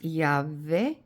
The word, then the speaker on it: Yahweh: And remember, if you pronounce it, it's Yahweh, but it's, again, there's more meaning to that.